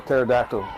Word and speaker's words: pterodactyl: you cannot hear a pterodactyl go to the bathroom I have no idea because the p is silent um hey Bill courtesy